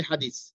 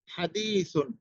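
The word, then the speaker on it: حديث: উচ্চারণটাই করতে হবে আপনাকে যেমন ধরেন আমরা কথায় কথায় বলি হাদিস তো আমরা হাদিস যে বলি দেখা যাচ্ছে হাদিসের উচ্চারণটা আমরা বাংলা ভাবে করতেছি কিন্তু হাদিস বানানটা কি আছে হাদিস তা রয়েছে হাদিস হাদিস ভালো করে বোঝার চেষ্টা করুন হাদিসুন হাদিসুন তা কিন্তু আমরা হাদিস স্বাভাবিকভাবে বলে দিচ্ছি যেটা আমাদের বাংলা উচ্চারণে বাংলার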